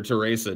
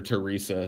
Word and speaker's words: Teresa: Well, I guess, that my mind went immediately to Mother Teresa. What? Yeah, Mother Teresa, dude. Or Mother Teresa, depending on how you say it. It's totally Teresa.